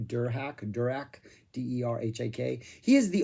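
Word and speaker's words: Derhak: right that is how you say his name der hack direct d-e-r-h-a-k he is the only member that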